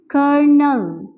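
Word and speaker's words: colonel: pronounce नहीं कर सकते ल का कोई साउंड प्रोड्यूस नहीं होता है क्योंकि ल हमारे पास साइलेंट है ठीक है तो हम इसे पढ़ेंगे इस तरह से प्रोनाउंस करेंगे करनाल यहां पर एवं के आर का साउंड प्रोड्यूस हो रहा है और ल को जो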